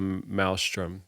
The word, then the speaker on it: maelstrom: and they call it the malstrom that's how you pronounce it the Maelstrom maelstrom she